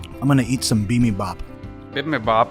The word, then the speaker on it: bibimbap: Sometimes anglicized as bibimbap or bibimbap. It's a Wow. Korean dish. Huh. I think it's bibimbap. Bibimbap is Bibimbap. the Korean pronunciation.